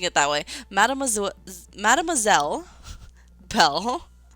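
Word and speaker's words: mademoiselle: Madame Madameelle Bell. Whenever I say Madameelle, it always like says swell instead of zel.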